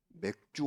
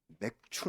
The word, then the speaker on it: 맥추: 알던 어떤 성도님 은 맥주 감사 아주 일인 줄로 잘못 알고 끝내 맥주 감사 라고 하셨어요 꼬리가 맥주의 원료 로 쓰이기는 하지만 술을 감사하는 줄리 아니므로 발음의 주의하시고 맥추 는 성경의 아주 중요한